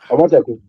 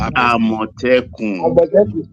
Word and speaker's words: Amotekun: Omoteku. Huh? Who is saying Amotekun? Amotekun. Isaac Ojo is pronounced Amotekun.